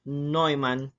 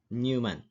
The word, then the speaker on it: Neumann: Hai Keh sedih Vania is pronounced as Snowman not Newman So what is Von